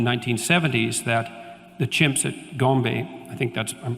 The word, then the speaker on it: Gombe: But then, of course, Goodall showed in the 1970s that the chimps at Gombe, I think I'm pronouncing that correctly, Yep.